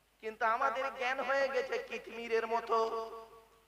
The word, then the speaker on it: কিতমির: কিন্তু আমাদের জ্ঞান হয়ে গেছে কিতমিরের মত কি বললাম কি বললাম কিতমির কি বললাম বলুন কিতমির বলুন উচ্চারণটা করুন কিতমির কয় হস্ত ত ময় দীর্ঘই